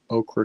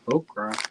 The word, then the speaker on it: ochre: know, brown shades of brown, shades of yellow, ochre kind of color. How do you say that? Ochre? I thought you said okra.